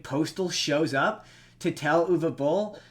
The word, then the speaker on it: Uwe Boll: The only valuable thing in Postal is Uwe Boll is in the movie, and there's a scene where they say his name, so I now know how to pronounce his name.